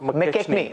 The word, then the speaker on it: McKechnie: How do you pronounce that, Joy? Scott McKechnie. Okay, Scott McKechnie.